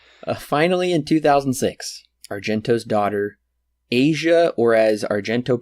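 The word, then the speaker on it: Asia: that's true so finally in 2006 Argento's daughter aja or as Argento pronounced it in the features Asya was cast as the lead after she asked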